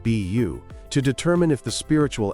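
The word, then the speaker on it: 卜: day in the Chinese character for divination, pronounced beu, to determine if the spiritual answer was auspicious or disastrous.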